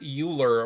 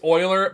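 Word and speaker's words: Euler: Popular by the mathematician Leonard uler or Oiler I say uler it's Oiler but Oiler man I hate that pronunciation the record for reciting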